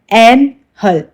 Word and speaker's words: annul: Next word है एन हल। इसको एनहल के टाइप से प्रोनाउंस करते हैं।